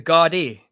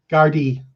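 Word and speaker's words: Gardaí: Um but it's pronounced the Guardi. Gardi.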